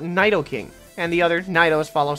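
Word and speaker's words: Nidoking: at this guy see I pronounce this Pokemon needle king however some people I hear call it Nidal king and the others Nyos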